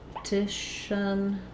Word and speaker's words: repetition: So repetition. This follows the rule of when we have a shun ending, the syllable before the shun is stressed.